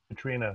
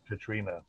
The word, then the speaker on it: Catriona: Yeah, it's a Scottish name, and you pronounce it Katrina.